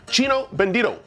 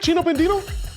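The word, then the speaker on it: Chino Bandido: Tomorrow on our show, we're getting a taste of iconic valley restaurant, Chino Bendo. Did I say it right? Chino Bendino. Yeah.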